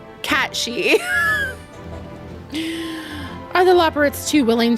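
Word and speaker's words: Cait Sith: Kate Sith is unanimously pronounced incorrectly. In real life, it would be like Cat She.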